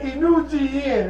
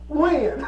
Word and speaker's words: Win: And he said, no, that's not how you pronounce my name. My name is pronounced Win. I'm like, what? He said, yes, my name is Win.